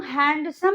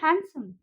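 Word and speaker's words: handsome: हैंडसम, उसको हम हैंडसम नहीं बोलते हैं, हम उसको बोलते हैं हैंडसम। सो डी is silent over here.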